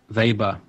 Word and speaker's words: Weber: um is associated with a guy called Max vber or Max Weber if you want to give it the English pronunciation who was a German